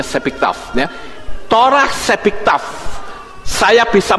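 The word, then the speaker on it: שבכתב: Ini bacanya Sepiktaf, ya.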